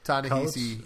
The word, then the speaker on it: Ta-Nehisi: Ta-Nehisi, yeah.